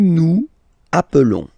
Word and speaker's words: nous appelons: Nous nous appelons. Okay, so I will make the liaison.